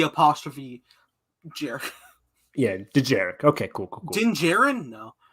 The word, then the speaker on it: Dejarik: I can't pronounce it. Was that famous D apostrophe Jarek. Yeah, Dejarik.